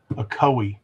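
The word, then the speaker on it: Ocoee: Akoi. Akoi. I don't know if I'll ever get that. It sounds like you're sneezing. Akoi with your address there in the suburb.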